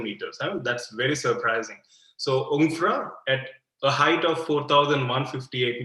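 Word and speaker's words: Jungfrau: can see on screen it is um pronounced as jay is silent um infra george um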